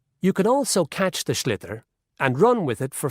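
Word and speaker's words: sliotar: this ball called a schlitter that's s SL IO t a r so it's not spelled the way it's pronounced you hit it into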